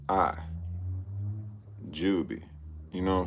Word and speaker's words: Jubi: I I'm I'mma spell it for y'all one more time. It's J U B I Jubie. You know what I'm saying? Her name J U B I Jubby.